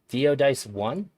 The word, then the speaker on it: Diodice1: It's Diodice1. How do you spell that? Uh, Diodice1. D-I-O Yep, Dice1. D-I-C-E. Yeah, like dice, like you roll Dice them for one.